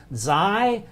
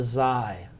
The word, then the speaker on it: Xi: Xi is a real strange one. I always think about it, it's the snake letter. Okay, it's kind of pronounced as our Z, but it's a loop,